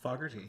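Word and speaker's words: Fogerty: Starr, Ann Wilson, John, how do you pronounce pronounce? Fogarty.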